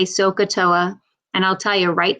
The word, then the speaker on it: SOHCAHTOA: there's a little saying it's called sohcahtoa you'll hear me say sokatoa and i'll tell you